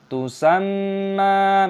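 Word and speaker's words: تُسَمَّىٰ: Aturan Tusamma, mim tashdid dibaca sebagai ghunnah, nasal, jadi kita sengaukan, "tusam" yaitu ketika menjadi nasal, maka ada tanda seperti ini, jadi mim dibaca panjang, tusamma.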